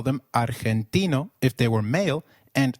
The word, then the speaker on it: argentino: Did you notice that argentino is pronounced as argentino. In Spanish, G when followed by e or i is pronounced like a throaty h. So try saying argentino again.